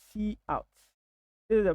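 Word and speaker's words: cout: console C so we we normally pronounce it like so see out this is a pronunciation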